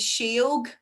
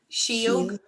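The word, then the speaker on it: sióg: So that's another other word that I would know for fairies is sheog. Sheog. But you can hear that's a soft S, shh, because it's followed by an I.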